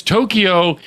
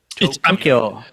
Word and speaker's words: Tokyo: get that to because Tokyo is the main thing, you know. Oh, there's a one uh in there's only two syllables, Ed. Tokyo. Tokyo. No e in the middle.